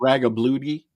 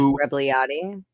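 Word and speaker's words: Rebagliati: Ross Ragabludi, I can't pronounce his name. Ross Rebliati.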